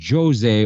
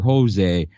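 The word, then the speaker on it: José: out in the thread because he's from Brazil and Brazil's language is Portuguese rather than Spanish the correct pronun pronunciation is Jose over Jose but yeah that was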